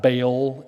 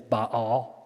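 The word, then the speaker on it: Baal: double a is always so it's not baol it's ba'al okay so anyway kanaan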